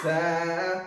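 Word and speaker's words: ث: যা তার নাম যা সা উচ্চারণ কেমন হবে সা উচ্চারণ কেমন হবে সামনের নিচের যাতে রাখা হতে শীষ সহ পাতলা ভাবে আদায় হবে যা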